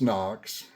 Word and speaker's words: HOKC: It's spelled H O K S C, but pronounced NOKS.